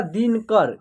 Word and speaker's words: दिनकर: देखिए दिनकर, ठीक है, दिनाकर ऐसे नहीं हो रहा है, दिनकर, ठीक है। यानी न में अ की साउंड का उच्चारण नहीं हो रहा है तो यहाँ एन ही लिखेंगे, ठीक है।